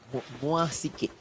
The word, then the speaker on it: MYSG: Did I pronounce that right? MYSG.